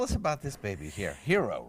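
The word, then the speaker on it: Hiro: about this baby here hero right hero hero but is spelled H iro and he is approximately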